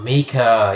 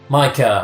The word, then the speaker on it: Mika: Oh, Mika, you've gone full scumbag as well. Not cool, Mika. Micah, I've been mispronouncing you, Micah. Mika's the one that does the cheesy pop songs.